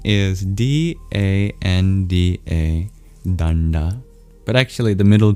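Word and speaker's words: daṇḍa: But actually the middle two letters are an approximation. It's a retroflex n and d in the international alphabet of Sanskrit transliteration. You put a dot under the middle n and d. And when you're pronouncing you curl your tongue back for those letters.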